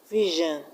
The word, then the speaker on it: vision: And in the word vision, we have the stress on VI.